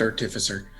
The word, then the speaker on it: artificer: disable devices and who are you exactly it's pronounced artificer oh my name is I'm a